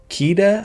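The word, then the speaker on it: Kida: below the little deer keita i think is how you say her name it's been a while since i've seen this one i don't think it's kitta but it might be uh from atlantis she's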